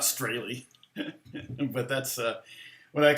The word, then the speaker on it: Strahle: Yeah, people are always spelling Strahle wrong. Or they're pronouncing it wrong. Strahle. But, I'm not pronouncing it correct anyway, because it's Strahle. It's not Strahle.